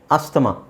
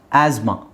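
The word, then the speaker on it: asthma: ಅಂತ ಹೇಳಿ ಕೇಳಿರ್ತೀರಾ right ಅಸ್ತಮ actually ಅದು ಅಸ್ತಮಾ ಅಲ್ಲ ಆಸ್ಮಾ ಆಸ್ಮಾ ಅಲ್ಲಿ ಟಿ ಎಚ್ ಸೈಲೆಂಟ್ ಆಗುತ್ತೆ ಟಿ ಸೈಲೆಂಟ್ ಆಗುತ್ತೆ ಅದರ ಜೊತೆಗೆ ಎಚ್ ಸೈಲೆಂಟ್ ಆಗುತ್ತೆ ಸೊ ಆಸ್ ಅದನ್ನ ನಾವು ಝೆಡ್ ಮಾಡಬೇಕು so this is the correct pronunciation of this word ಅಸ್ತ್ಮ ಅಸ್ತ್ಮ ನಾವು ಮಾಡ್ಕೊಂಡಿರೋದು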